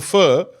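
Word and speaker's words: phở: It's pronounced, it's written ph, but it's pronounced fur. Fur.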